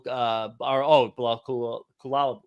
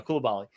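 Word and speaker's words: Coulibaly: And then Garen said Bilal Kulal. Oh my God, I'm pronouncing Koulibaly. There we go, Koulibaly.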